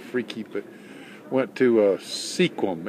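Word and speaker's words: Sequim: was kind of freaky but went to uh sequum s qu i m Squam is the way it's pronounced uh spent the night in a Walmart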